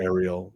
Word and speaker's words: Uriel: for me arel uh I I pronounce it Uriel with a u you can do Uriel or Ariel Uriel um she's always